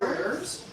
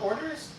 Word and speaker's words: hors d'oeuvres: Oh, it's the way it's spelled? Orders? Hors d'oeuvres. Hors d'oeuvres. Yeah, it's like It's, no. I've never it's heard spelled that. like hors d'oeuvres. Come here. It's spelled like what?